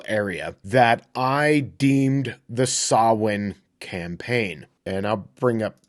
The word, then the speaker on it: Samhain: that I deemed the sawin campaign and I'll bring up the working logo right now wait a second that says Sam Hayne no that's what it looks like phonetically but it's actually a Gaelic word that is